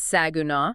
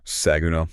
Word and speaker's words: Saginaw: But then we have Arlington, Grand Prairie, Mansfield, Burleson, Benbrook, Azle, Saginaw, and by the way, if you want to flag yourself as an outsider, pronounce that last one wrong. It's Saguna. Saguna, yes.